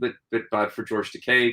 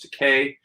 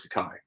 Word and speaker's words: Takei: to them on the red carpet is george takei um and she calls him george takai you know and he and he it's the